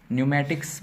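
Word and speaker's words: pneumatics: against silent हो जाएगा तो जब भी पी के बाद एंड आता है तो पीकोस साइलेंट कर लिया जाता है ठीक है ना है जैसे यहां पर लिखा है नियम मैट्रिक न्यूमेटिक्स मींस होता है है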